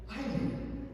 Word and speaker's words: island: Island. What is the silent letter for island? S.